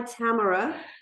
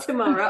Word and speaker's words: Tamara: if you meet her it's hi Tamara and not tomorrow although we all call